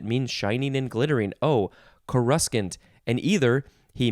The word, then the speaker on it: coruscant: it is spelled exactly the same this is pronounced coruscant something like coruscant and uh but wait it gets better this